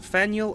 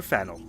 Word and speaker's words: Faneuil: faneuil or fennel okay don't let the french spelling confuse you the name of this building is pronounced fanueil or fennel getting it wrong is a good way to indicate you're not from around here but it's also